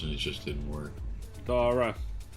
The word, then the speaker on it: Dara: And they've tried to bring Darren onto different shows, and it just didn't work. Dara. Dara, okay, Dara. Not Darren.